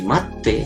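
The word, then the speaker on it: 待って: Hay mucha diferencia entre decir mate en imperativo vulgar y mate, que es con una pequeña tsu, que vamos a ver en la forma T, que es como más suavecito, ¿sí?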